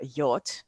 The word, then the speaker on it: yacht: of Gray from the uh yacht the boats yeah how do you pronounce that word anyway y